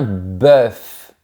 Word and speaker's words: bœuf: Attention, fais comme si la lettre O n'existait pas. Je répète un pan, un bœuf. Remarque que ma bouche est bien verticale. Imagine un rectangle vertical et prononce bien la lettre finale. Un bœuf. Mais attention, au pluriel, c'est différent. On dit des bœ. Le son est plus fermé et on ne prononce pas les deux lettres finales.